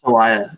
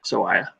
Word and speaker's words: Sawaya: Sawaya is how you pronounce it properly. Sawaya.